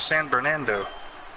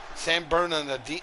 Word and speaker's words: San Bernardino: Is that how you pronounce it? Bernardino? I thought it was San Bernardo. San Bernardino.